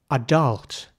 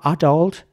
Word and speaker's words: adult: on here is the the first letter the a it's really pronounced somewhere in between R and air so it's not quite R adult and it's not quite adult either um but somewhere in the middle adult and the focus of the the pronunciation is really the first part of the word so it's not adult that would be the American way it's adult so in British English this